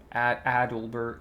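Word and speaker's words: Adelbert: Adalbert. Yeah, that's how you say his name.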